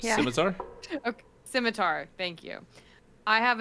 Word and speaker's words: scimitar: Skimar. Skimitar. Skim. Is that right? scimitar. Scimitar. Thank you. I have a double-bladed scimitar and a short bow. Okay, that's what I have. The double-bladed scimitar looks cool, but I wouldn't say it's as